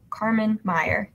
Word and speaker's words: Karmanmeyer: So on Instagram, it is my first and last name, but it's spelled a little different. So it's KarmanMeyer. So Carmen Maya.